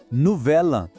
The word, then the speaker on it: Nouvel An: En français, on dit « novela », vous avez entendu ? C'est important. On combine les sons « l » et « a ». Ça sonne comme un seul mot.